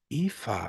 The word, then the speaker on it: Aoife: My name is pronounced Aoife. Oh, I love that. Aoife.